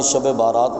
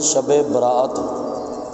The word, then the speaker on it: شب برات: ہے۔ یہ شب برات، اس کا اصل تلفظ ہمارے ہاں اصل میں شب بارات پڑھا جاتا ہے، لکھا بھی یہی جاتا ہے، لیکن اصل لفظ ہے شب برات۔ با را الف جس